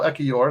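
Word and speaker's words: Ekiyor: um a meal uh Akio wow Akio Emil ekior that's how you say his name uh was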